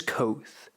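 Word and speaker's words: Kote: his smile broadened mine my name is koth pronounced nearly the same as quoth names are important as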